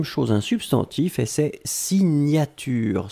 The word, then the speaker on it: signature: Deuxième chose, un substantif et c'est signature. Souvenez-vous, le GN, la prononciation c'est gne gne gne gne gne.